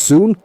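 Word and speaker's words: ศูนย์: It's spelled with the Thai letters Sosala, Sarayu, Nonu, and Yoyakaran, pronounced Soon.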